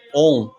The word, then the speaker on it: Om: Então, o A, o U e o M. A, U e M, que se pronuncia ON. Porque quando elas estão juntas, o som é o ON.